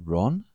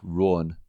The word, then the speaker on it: Rowan: I've always wondered, is it Rowan or is it Rohan? Well, I used to always call myself Rowan. Okay. But people would say Ron. So now I call myself Rowan. Rowan. I try and pronounce it better.